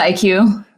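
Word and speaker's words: iQue: Is that how you pronounce it? The Chinese console? The IQ.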